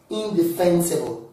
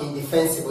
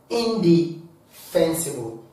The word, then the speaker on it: indefensible: The word is pronounced what? Indefensible. What did I say? Indefensible. Not indefensible. Not indefensible. But indefensible. Indefensible.